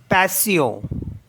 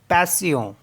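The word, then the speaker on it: patient: सियों example है जैसे पी ए टी आई ई एन टी इसको प्रोनाउंस करते हैं पैसियो पैसियो पैसियो मीस पेशेंस ये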